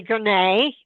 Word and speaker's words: Gonet: So, I'm Gonet. As Jojo says, it rhymes with array.